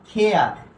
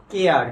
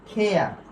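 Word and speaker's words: care: এরপরে এটার উচ্চারণ হবে কি বলতো খেয়ার, আমরা উচ্চারণ করি কিন্তু কি বলতো কেয়ার, কি উচ্চারণ করি কেয়ার, কিন্তু এর সঠিক উচ্চারণ হবে কি বলতো খেয়ার।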